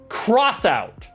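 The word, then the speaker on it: X-Out: out right X out it's literally spelled X hyphen out uh but however it is pronounced cross out which is dumb I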